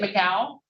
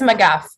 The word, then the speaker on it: McGuff: you your name is it miguel it's mcguff okay i apologize uh